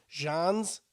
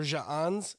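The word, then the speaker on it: J'onzz: n n and then his last name john's or jaanz is like j apostrophe o n z and you know what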